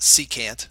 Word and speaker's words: secant: a secant line so that's pronounced secant like as an s-e-e-c and then can't can't see so secant is a